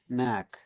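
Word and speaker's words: knack: কে letter ডিলেন্ট থাকবে কে এন এ সি কে নেক মানে কৌশল দক্ষতা পত্রতা আরো অনেক কিছু বোঝায় এখানেও স্কেলডার সাইলেন্ট থাকবে কে এন আই এফি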